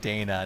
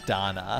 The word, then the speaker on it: Dana: of the game and it's lacrimosa of Dana not Donna here's the thing so here's the thing technically the thing technically if you want to say at the Japanese it'd be Donna okay being you know